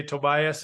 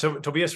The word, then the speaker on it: Tobias: I can say Tobias, and he'll forgive me, but it's Tobias Rauscher. So anybody that speaks German can laugh at my pronunciations there.